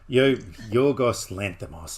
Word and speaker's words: Yorgos Lanthimos: Yorgos Lanthimos.